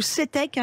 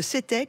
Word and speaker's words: CTEK: Eh ben super, bon anniversaire à Belle Santirso et surtout CETEC qui fête ses 25 ans cette année.